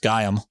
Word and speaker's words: Gaiam: you the real you our name guy am pronounced gayam as a fusion of Gaia the name of the ancient Greek Mother Earth goddess and I am it means roughly I